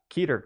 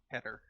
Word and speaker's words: Keter: Uh yeah, keater class too. Oh god. I think No, it's Keter. That's how it's pronounced Ker.